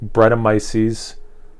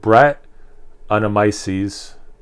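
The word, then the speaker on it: Brettanomyces: with the always beguiling bread of mices i actually i mispronounced that bread and brett animises brett uh resulting in 100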